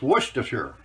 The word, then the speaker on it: Worcestershire: worcestershire shire sure worcestershire i know an english guy told me how to say this it's worcestershire that's how you pronounce it and it does come